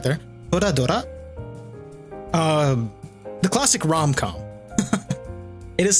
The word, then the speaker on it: Toradora: Which I did not pronounce right there. Toradora.